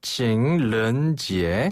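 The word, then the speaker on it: 情人节: 중국어로 발렌타인데이를 칭ren지에라고 하는데요. 뭐라고요? 다시 한번. 연인의 날이란 뜻이에요. 연인의 한 번 더. 날. 네. 칭ren지에. 칭른지에 한 번 더. 칭ren지에. 런이 아니라 른 이거네요.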